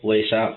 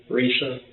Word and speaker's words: Risa: Lisa with the R. Risa?